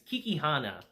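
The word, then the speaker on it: Kakihana: to what's his name kikihana that's his name sorry if i mispronounced that throughout the episode guys it's kiki hannah we transitioned to him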